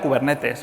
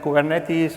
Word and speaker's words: Kubernetes: la gente anglosajona dice kuber netis o cosas parecidas pero viene del griego Así que debe ser muy parecida como lo he pronunciado kubernetes es un proyecto